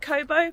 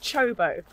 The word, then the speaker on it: Çobo: told to come to it looks like kobo but you say it like chobo cho by winery so